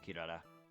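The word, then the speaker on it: キララ: Just like also how Japanese names that have L's are pronounced with R's. Or R's are pronounced as L's. Like Krillin's name is Kuridin. And you got Kilala, which is Kirara.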